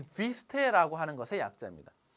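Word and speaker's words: Wüste: 요거는 독일어의 자, 이 비스테라고 하는 것의 약자입니다. 여기 보면 또 우음라우트라고 해서 이렇게 점 두 개를 땡땡 찍었습니다. 이러면 이거를 입을 이렇게 움직이지 않고 으라고 발음해야 되는 거예요. 그러면은 비스테라고 하는 건데요.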